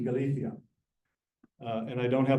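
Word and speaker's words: Galicia: La rioa Casia e Galia uh and I don't have a list Galia Galia is pronounced Galia every part everybody in that part of Spain converts a c or a z to a th uh and I say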